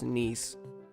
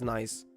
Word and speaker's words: Nice: mind but translation says nce it's like the city that's why I'm not pronouncing it as nice it's a French uh City I don't know if